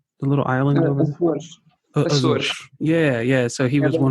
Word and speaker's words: Açores: and he was one of the founders of Azores. How do you say that island? The little island over there. Açores.